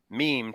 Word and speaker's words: meme: evolutionary biologist uh and he used the term meme to rhyme with Gene um as a unit of